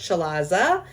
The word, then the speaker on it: chalaza: the yolk is the chalaza spelled chalaze it's pronounced chalaza and this is a thick rope of albumin